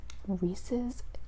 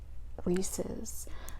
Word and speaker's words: Reese's: The name is Reese, so it's Reese's, and then it's supposed to rhyme with pieces.